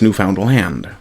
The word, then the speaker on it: Newfoundland: of the word as newfound land. The proper way to say it, he insisted, was newfound land with the emphasis on the last syllable.